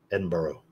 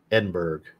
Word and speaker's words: Edinburgh: hear edinb bur well you got to say burrow Edinborough it doesn't look like it's pronounced that way Edinburg you know Edinburgh yes